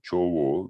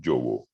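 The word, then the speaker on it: ཇོ་བོ: notions d'usage, c'est-à-dire qu'ici, c'est effectivement, normalement, littéralement, Chowo, mais c'est Jowo, on prononce Jowo. Cela dit, tu dirais Chowo, c'est pas très grave, hein, parce qu'au Tibet, il y a tellement d'accents différents que je suis absolument persuadé qu'on doit trouver des Tibétains qui prononcent Chowo aussi.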